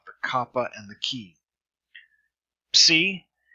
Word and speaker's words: psi: Psi is as in the PS in slips. So you have both the P and the S sound pronounced.